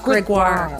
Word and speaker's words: Gregoire: Welcome, Sheila Gregoire. Gregoire. Why can't I say it right? You're just not, you need to do that French Canadian thing. Gregoire.